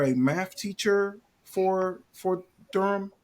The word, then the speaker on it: Durham: just get right to it Durham am I pronouncing it correctly I want to make sure Durham Durham Durham just Durham yep just Durham Durham Public Schools